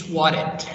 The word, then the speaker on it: swatted: The next word, number 7, it's swatted, swatted, swatted. Getting the double T, change the pronunciation to be like R sound, so swatted.